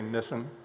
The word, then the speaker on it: Nisan: This is the first month of the Jewish year, pronounced in different ways. I'm going to say Nisan. Some people say Nisan, but most say Nisan.